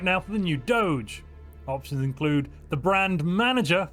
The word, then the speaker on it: Doge: to get the vote let's bring back the Doge or as some people pronounce it I believe dog well it looks like